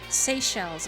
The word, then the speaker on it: Seychelles: my little planet what's up come on seychelles okay that's how you say it thank you